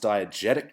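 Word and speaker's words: diegetic: sorry Jordan you were so close but it's pronounced diagetic music and also diagetic elements are things that the characters can hear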